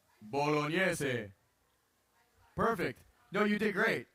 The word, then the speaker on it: Bolognese: Bolognese. Thank you for saying that right. Bolognese.